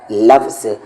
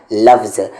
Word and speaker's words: لفظ: ہے۔ کہنے کا مطلب ہے کہ اس ورڈ کا صحیح تلفظ ہے لفظ، یعنی لام پہ زبر آئے گا، فا پہ جزم آئے گا اور زا پہ جزم آئے گا، تو اس ورڈ کا صحیح تلفظ ہے لفظ۔ اکثر لوگ اسے لفظ کہتے ہیں جو کہ غلط ہوتا ہے، تو صحیح تلفظ ہے اس کا لفظ۔ پھر یہاں پر غین